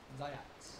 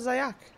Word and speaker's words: Zayats: Zayats. Zayach? Zayats. Ats. Why is it not Zayak? Just CIS is like you pronounce it.